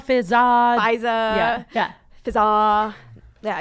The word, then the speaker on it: Fizaa: Fizaa. Fizaa. Yeah. Fizaa. Yeah, it's spelled like Fizaa.